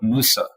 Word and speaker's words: Mose: at the fact that this word Mose, which we're pronouncing as Mose, but it is not a Spanish word and wasn't actually even pronounced like that. If you look at a ton of the records of the time, even maps of the time, it's very clearly labeled Fort Musa.